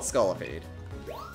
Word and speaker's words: Scolipede: We got Scolipede. Oh, Scully. I think I'm putting in too many extra syllables in there. Scolipede. It's just called Scolipede.